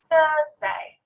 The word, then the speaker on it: Thursday: notice that as well i put my tongue in between my teeth to make that sound at the start thursday the next one